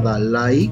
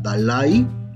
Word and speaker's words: Dalaí: Fíjense, si esta palabra se pronunciara Dalai con acento en la A, debería llevar acento también, pero entonces sería un diptongo.